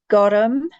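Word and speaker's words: gorm: Gorum, need to stick the extra syllable in there. Gorum.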